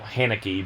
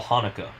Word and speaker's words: Haneke: that you said forever it's michael hanecki but according to you it is uh mikhail hanukkah hanukkah yes hanukkah like the holiday the holiday yes uh